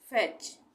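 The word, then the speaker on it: fetch: उच्चारण नहीं होगा बैच एफ ई टी सी एच फेच फेच यहां प भी टी के बाद सी एच आ रहा है फेच का उच्चारण यहां प टी का उच्चारण नहीं होगा इसको हम पढ़ेंगे फैच उसके बाद है विच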